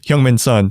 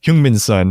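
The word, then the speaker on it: Heung-min Son: in this last game hyung min sun or hyungmin's son is i learned that's how you pronounce it he's been going off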